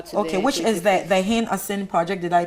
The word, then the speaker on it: Hin-Assin: And they will be going with us for our projects from the 21st of September to okay, which is the Hin-Assin project. Did I pronounce that right?